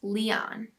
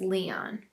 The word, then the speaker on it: Lion: when the time came, we would drop the S and change the pronunciation, and we would name him Lion, pronounced Leon.